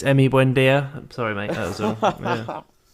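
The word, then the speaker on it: Emi Buendía: i think sorry tom i think he mispronounced his name there it's emmy buendia i'm sorry mate as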